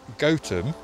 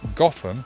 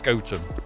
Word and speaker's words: Gotham: from village is pronounced gotem stemming from goat town the pronunciation gotham was adapted for batman so i've been saying it wrong all along it's goten we're not actually going